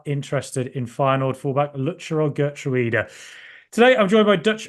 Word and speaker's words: Geertruida: Secondly, it's probably worth Villa fans knowing how to pronounce his name. It's quite a tricky one. It's actually Geertruida, which is very, very difficult.